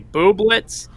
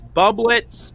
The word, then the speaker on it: Bubletz: not a stage name my last name is actually booblets it often gets pronounced as bublets but it doesn't matter whether you pronounce it as booblets or bubbletts i look like my